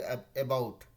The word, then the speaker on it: about: में नोटिस किए थे कि जो भी ए से स्टार्ट होता है, जैसे कि ABOUT, हम लोग क्या बोले अबाउट, अबाउट नहीं हो के वो होता है अबाउट, अबाउट।